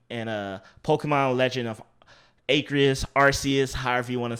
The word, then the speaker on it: Arceus: But we're getting a open world Pokemon style game and a Pokemon Legend of Arceus, however you want to say the legendary's name.